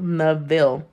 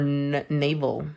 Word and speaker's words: Navil: is how it's spelled my middle name is n a V i l Nabil or navel like a belly button but spell different Google that what does